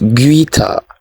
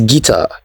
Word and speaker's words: guitar: It is not guitar, it is guitar. The U is silent.